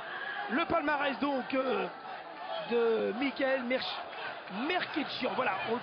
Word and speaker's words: Mkrtchyan: Alors, le palmarès donc de Michael Merkitchian, voilà, on le prononce comme ça, j'avais demandé à la pesée